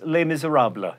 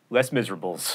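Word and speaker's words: Les Misérables: to the salon to discuss lay Missouri habla not les miserables thanks for watching Mental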